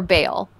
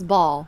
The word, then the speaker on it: Baal: question when you grew up did your pastor pronounce it ball or Bale I always heard it as baale Bale I